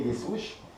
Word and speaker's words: Des Ouches: Alors là nous sommes avec le photographe, avec Thierry Dessouche. C'est ça, j'avais bien prononcé.